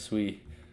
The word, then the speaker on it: Sui: It's pronounced Sui.